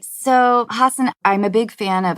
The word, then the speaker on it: Hasan: out of the way i wanted to pronounce your name hassan but i don't think that's correct i think it's hassan yeah hassan yeah all